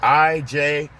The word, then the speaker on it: Ijebu: It's spelled I-J-E-B-U, Ijebu.